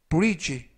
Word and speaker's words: bridge: 되겠습니다 2번 표현은 brid 브지 브지라고 발음하시면 되겠고요 이때 중간부분에 있는 알파벳 d n 무음이라 발음이 되지 않습니다 그래서 브리지가 아니라 지라고 발음하시면 되겠고요 품사는 명사 뜻은 교량